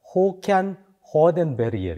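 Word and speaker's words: Håkan Hardenberger: 이분이 그 스웨덴 분이기 때문에 스웨덴 사람들이 이분을 발음할 때는 보니까 호칸 하르덴 베리엘 이렇게 발음을 하더라고요.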